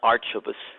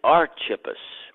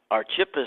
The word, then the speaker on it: Archippus: Greek manuals that I have it is not arch of us it is archippus so be it good or bad I did pronounce his name correctly archippus was a very interesting young man but more